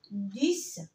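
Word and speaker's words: dix: رقم 10 يا جماعه الاكس هنا بنطقها اس ديس. طب لو جاء بعديها لتر فويل حرف متحرك بتنطق ز ز.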